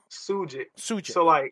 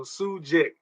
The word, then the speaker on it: Sugick: Well, you pronounce my name Sugick. So yeah, SU. So basically like SUE dash GICK. So Sugick. That's how you pronounce it.